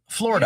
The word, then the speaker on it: Florida: pronounced 2 syllables. Florida. You don't pronounce the id.